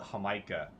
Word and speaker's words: jamaica: the time it's great they call it hamikah when I got back to the States I was looking all over for hamah and it spelled like Jamaica so you know when